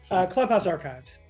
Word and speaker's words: ClubhouseArc: How am I pronouncing this? Clubhouse Archives.